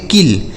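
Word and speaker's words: kill: का सिल्क हो गया के आई डबल एल इसे पढ़ेंगे किल के से क आई से छोटी इ की मात्रा और डबल एल से ल लिखा है किल एफ आई डबल एल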